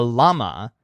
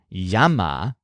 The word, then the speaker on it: llama: a customer calls him a llama pronounced the English way rather than a yama which is how you'd pronounce it in Spanish he pours out his